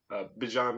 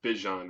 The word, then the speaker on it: Bijan: Michael Penix, Bijan Robinson, as he said in a press conference. It's Bijan Robinson, not Bijan Robinson.